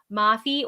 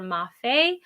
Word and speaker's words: Maafe: Yes, they have the peri peri chicken with yellow rice with turmeric, and they have something called, it's spelled Maafe, so I think it's pronounced Mafi or Mafe.